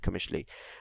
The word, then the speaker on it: Qamishli: here in Afrin you find them here in Qamishli Commission Qamishli yes commercially that's how you pronounce it commercially you also find them in in Damascus that